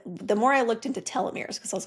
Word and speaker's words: telomeres: And the research from 2019 in the psychosomatic medicine linked mindfulness practices to longer telomeres.